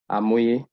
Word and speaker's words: Hamoye: Then Hamoye, the word Hamoye is derived from a Yoruba word pronounced as Amoye, which means the wise one.